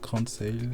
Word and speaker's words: Grain de Sail: Aujourd'hui, je suis accompagné de Stéphane Gallard, qui est CMO chez Grain de Sale. Ça se prononce comme ça? Grain de Sale. Exactement, Ok, grain de sel.